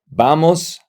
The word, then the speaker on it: vamos: The V in Spanish is pronounced B. So that's why you say voy, vas, va, vamos, van.